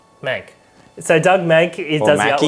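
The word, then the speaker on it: Mahnke: The artwork is by Doug Monkey? Doug Mank? Monkey. Doug Mank. Monkey. How do you say that word? Mank. Mank.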